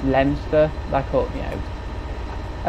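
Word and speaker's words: Leominster: through a place and it was spelled L-E-O-M-I-N-I-S-T-E-R, like Leo Minister, whereas it's actually pronounced Leinster.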